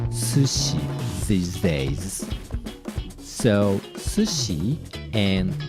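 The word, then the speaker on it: 寿司: my memory is correct sushi is originally supposed to be pronounced to see but more and more Japanese people pronounce sushi with a Tanaka accent recently I had never heard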